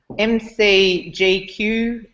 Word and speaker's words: MCG: And Mike is a quantity surveyor from MCGQ Quantity Surveyors. Am I pronouncing that correctly, Mike? Mouthful, isn't it? It's MCG. You just think of the cricket ground, but we're MCGUS on the website because of we're MCG Quantity Surveyors.